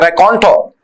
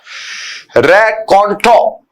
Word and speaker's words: raconteur: जो छोटे छोटे किस्से सुनाने में माहिर होता है उसे बोलते हैं रैकॉन्टो। रैकॉन्टो। हाँ जी, स्पेलिंग देखिए RACONTEUR, रैकॉन्टो।